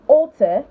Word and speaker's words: altar: and the end of words mix the schwa sound so altar in altar same pronunciation altar the first one